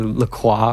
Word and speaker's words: LaCroix: What do you think LaCroix tastes like? Well, I would say it depends on which LaCroix. Isn't it actually pronounced, if you're like French, you'd say La Croix or something like that?